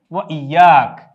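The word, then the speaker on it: وإياك: এই শব্দটির আরবি হচ্ছে ওয়া ইয়াক, এটির উচ্চারণ আমরা এখানে দিয়ে দিয়েছি ওয়া ইয়াকা।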